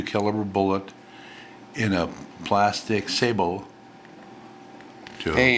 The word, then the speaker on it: sabot: bullet in a plastic sabot. Hey, you pronounced that correctly. Yeah. He's a wise one. Sabot, that means shoe? Right, French for shoe.